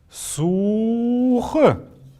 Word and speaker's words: сух: Когда мы произносим эти слова, не надо говорить у-ух или су-ух. Надо говорить сух, ух, долго протягивая их, поэтому они икшик, то есть такие мелодичные, протяжные, красивые очень.